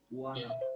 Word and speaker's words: Juana: U is pronounced as U. Okay, Juana.